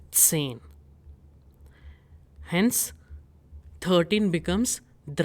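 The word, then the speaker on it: zehn: And what is number 10? It is sane.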